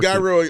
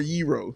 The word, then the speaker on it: gyro: Jake, do you pronounce it Gyro or Yero, Jake? Thank you.